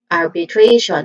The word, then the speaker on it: arbitration: So this is arbitration again arbitration with Trey as the stressed syllable arbitration.